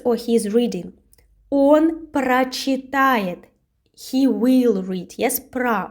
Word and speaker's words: прочитает: Он прочитает. He will read. Yes, про. We have this prefix про, and we pronounce прочитает with а.